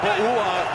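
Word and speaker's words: Pouha: Wearing a tie and pronouncing Bouha in the same day. That's a little misleading because it starts with a P, but it more sounds like a B.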